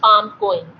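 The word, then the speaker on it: PALM-COEIN: Thus, mnemonic is written down, which is pronounced as palm coin. So Palm-Cohen classification is a new systemic classification, and to remember the causes, you need to remember this Palm-Cohen.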